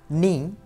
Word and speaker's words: knee: 1. Knee, knife, not, no. If you observe all these letters, when we pronounce all these words at that time, there is one letter which is always silent, and the silent letter is K.